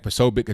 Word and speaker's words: Posobiec: I think Jack Posobiec, that's how you pronounce his name, he's going there.